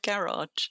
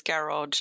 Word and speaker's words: garage: I suppose I mean there's two there's at least two pronunciations. I guess there's garage and there's garage. I'm a garage person. Emphasis on the first on the first syllable.